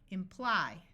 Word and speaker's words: imply: This Y is going to have a long I sound, imply.